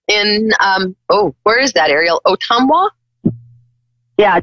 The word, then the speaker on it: Ottumwa: Ottumwa? Yeah, Ottumwa.